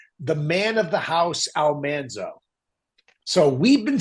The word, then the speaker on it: Almanzo: So I came in in season 6 to be this character Almanso Wilder. We pronounced his name Alonszo Wilder incorrectly. One of the few overt mistakes that was made.